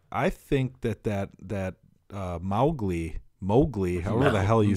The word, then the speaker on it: Mowgli: GOI yeah I suppose mow the lawn you know Mowgli I'm an idiot but but it's it sounds like there should be an e in there Mowgli that's how I always pronounce it Mowgli would be how